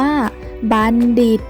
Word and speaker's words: บัณฑิต: 1 รอบ นะ คะ คำ ที่ มี ตัว ทองมณโฑ เนี่ย จะ ออก เสียง ได้ 2 แบบ นะ คะ คือ 1 ออก เสียง เหมือน มี เด็ก นะ คะ เช่น คำ ว่า บัณฑิต มณฑป บัณเฑาะว์ และ บัณฑุ ค่ะ ส่วน แบบ ที่ 2 ออก เสียง เหมือน ท. ทหาร ได้ แก่ คำ ว่า มณโฑ และ มณฑล มณฑา กุล ฑี ทัณฑสถาน และ จัณฑาล ค่ะ เจ้า ไป แล้ว นะ